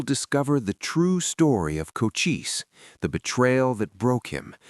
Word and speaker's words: Cochise: Born around 1805 in the Draon Mountains of what we now call Arizona, Coochis, pronounced Coochis, meaning hardwood in Apache, grew up in a world of balance.